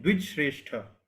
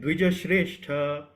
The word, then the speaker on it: द्विजश्रेष्ठ: So when you speak Dvija, so you need to fully pronounce the word Ja. Dvij, you are saying Dvij Shrestha. Dvij Shrestha is giving half sound of Ja. So you need to say Dvija Shrestha.